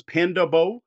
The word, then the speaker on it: Panda Bo: The way I think this is pronounced is Panda Bo. It's all one word. It's Panda B-O, not body odor.